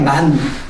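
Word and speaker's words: מן: 그게 원래 그 히브리 말로는 그냥 만이에요. 만 발음으로 하면 만이에요. 만. 네? 만나가 히브리 발음으로 만이야. 만. 내가 우리 예전교에서도 얘기했는데 그 이름이 만이야. 한 글자야. 그 발음이 하나야.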